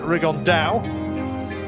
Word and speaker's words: Rigondeaux: And I guess another option, talked about Inoue, but Rigondeaux, as he's correctly pronounced with the Spanish accent, Rigondeaux.